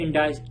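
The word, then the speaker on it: indicted: यहाँ पे T silent हो जाता है, इंडाइस्ड, इसका मतलब ये इंडाइस्ड ऐसे प्रोनाउंस किया जाता है।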